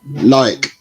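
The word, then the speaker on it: Loïc: How do you pronounce his first name? Loic.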